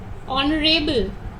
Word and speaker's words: honorable: So here the first one, H, is silent here. The sound you hear is O. Honest, our, honorable.